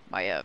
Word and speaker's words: Maiev: Maiev, that's how you pronounce it.